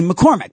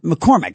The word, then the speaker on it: McCormack: Uh, and I don't I I just inhstinctively I say McCormack. My family has always said McCormack and it's always been M A C K at the end.